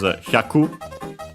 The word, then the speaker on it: hyaku: But yeah, the one actually used is hyaku, which is the Chinese reading. Accent on the ku at the end, so yeah, it's like that.